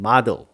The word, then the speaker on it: model: 우리말로는 모델이라 그러지만 영어식 발음으로는 model 이렇습니다. model.